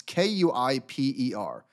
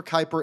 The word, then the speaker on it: Kuiper: they have called I don't know how to pronounce it it's k-u-i-p-e-r Kuiper so uh Andy jassy and the letter